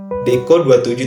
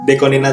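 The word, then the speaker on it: DECO*27: Sama biasanya aku dengerin Aiko Toba lagi dari Deko ini 27 itu bacanya Nina ya guys ya. Deko 27 itu bacanya Nina itu Aiko Toba 1 sampai sekarang itu Aiko Toba ya ada empat Dekonina tuh ya komposer musik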